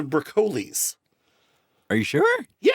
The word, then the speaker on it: Broccoli: There was a family that used to own the Bond rights called and I thought it was the Broccoli because I never heard it pronounced but apparently they're pronounced the BCles.